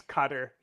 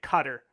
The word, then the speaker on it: Qatar: pronounce it right and they'll say cutter like c u t t e r cutter can you can you